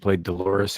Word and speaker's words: Dolores: Yeah, she played Dolores, whose name rhymes with clitoris, and she had these fantastic titties.